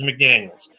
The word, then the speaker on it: McDaniels: No, it's not Josh McDaniel. Got to say his name right. Josh, I kill franchises McDaniels.